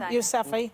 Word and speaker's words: Yousafzai: Yousafzai.